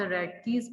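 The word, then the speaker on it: Rathke: Anterior pituitary from द रेडकीज pouch, इसमें H silent है, which is an embryonic invagination of pharyngeal epithelium।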